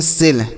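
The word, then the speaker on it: sell: एस E double L इसे हम पढ़ते हैं सेल।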